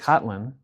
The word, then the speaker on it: Kotlin: So like Kotlin. Yeah. I think I'm pronouncing it right.